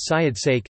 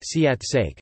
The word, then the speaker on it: เสียดแทรก: Syed-therk pronounced Syed-sake, Siat-sake, meaning inserted sounds, follow the semi-vowel W in alphabetical order.